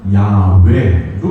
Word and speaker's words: 야훼: 대해서 가까운 것이 현대 신학자들에 의한 연구에 의해서는 야훼로 이렇게 발견이 있습니다. 한번 여러분 발음해 보실래요?